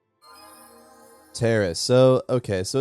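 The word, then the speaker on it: Taris: We need to find a way off Terrace. Terrace. So, okay. So, it's officially pronounced terrace according to Bastila and her British accent.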